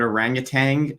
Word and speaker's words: orangutan: I like to quote my friend Gutsick Gibbon Erica that in this situation, that if somebody says the word orangutan and they pronounce it with the extra G on the end, they don't know what they're talking about.